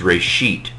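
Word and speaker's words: רֵאשִׁית: So for example, you can see Reshith. I would say Reshit. There are two different pronunciation systems, but this isn't exactly the same.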